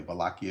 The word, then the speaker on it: Wallachia: The border between, when I say border, I'm talking about the province of Wallachia, spelled with a W, Wallachia. Wallachia is how you say it, and Transylvania.